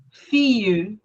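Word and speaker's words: fille: Esses dois L aqui, observem que eu não pronuncio eles. Olha, fear. Fe ah sem dois. Isso.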